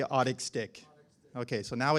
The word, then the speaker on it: Otic Stick: It's spelled O-T-I-C. I say Otic Stick.